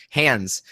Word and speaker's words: Hans: lot of people also confuse how to pronounce Hans because his actual pronunciation is hands and I think a lot of people don't know that but a lot of people's did say Hans because it sounds very it sounds even more German than hands it's like